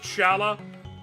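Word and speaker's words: Schala: we have the opportunity do you pronounce it scalla I pronounce it Shala that's fine I'm willing there's certain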